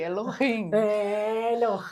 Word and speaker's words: Elohim: E o H ele traz uma força de criação que, quando possível, pronunciem. Então, em se tratando de Elohim, tem um H aí no meio que traz justamente isso, a criação, a força da criação.